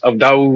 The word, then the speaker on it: Dawud: So mine is DAWUD. His is just DAUD. So I used to have to tell people, I'm Dawood with a W. a different light skinned Dawood from the east side with the oldest.